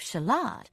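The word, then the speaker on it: Shalott: other the lady of shalot whose name just happened to rhyme with Camelot and Lancelot was much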